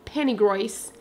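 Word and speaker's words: Penygroes: Urbanización que se llama según lo Menciona los ingleses Penny Grace Penny Grace Así es que ellos lo mencionan pennywise pero se escribe pennygroes esto queda en Winner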